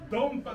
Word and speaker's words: 燈波: のチームですえドンパちょっとあの漢字が難しいですけどドンパって読みます皆さん今日は